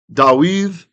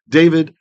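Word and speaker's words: דוד: Asher, which dibarta, you spoke, le'avdecha, to servant of Cha, to your servant, Dawiv, or David, we'd say, and with the Israeli Sephardic pronunciation, David, Avi, my Av, my father.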